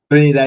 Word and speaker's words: Trinidad: Jamaica, and I said Trinidad and Tobago. I pronounce it like Spanish, or like Trinidad and Tobago.